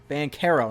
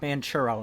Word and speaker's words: Banchero: silver just mispronounced it paulo van caro not manchuro not like churros like uh the dessert first overall pick going